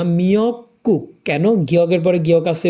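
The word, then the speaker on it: 미역국: soup পড়ি তাহলেই হবে শৈবালটা সমুদ্রেই হয় নিয়ক্ক মিয়ক গুক না মিয়ক কুক কেন গিয়কের পরে গিয়ক আছে উপরের গিয়কটা সাংকের উচ্চারণ হবে মিয়ক কুক শৈবালের সুপ আবার রিপিট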